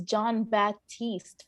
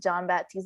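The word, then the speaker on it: Jon Batiste: saw two of these movies i think it's john baptiste from stephen colbert uh i think without knowing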